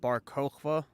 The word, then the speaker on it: Bar Kokhba: Was this also around the time of like Rabbi Akiba and Bar Kokhba, if I'm pronouncing the names correctly? Yeah, those are correct.